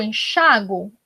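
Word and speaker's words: enxáguo: uma ressalva de que se eu coloco o acento, eu vou pronunciar a sílaba tônica no chá. Se eu não coloco o acento, eu vou pronunciar a sílaba tônica no gu, enxagou.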